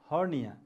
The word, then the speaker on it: hernia: The first word here is hernia. H-E-R-N-I-A, hernia. This R sound, R, R sound is silent here, okay?